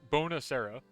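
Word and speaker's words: buonasera: too tom uh bonjourno is what we say bonus era uh it's like bone bonusera there you go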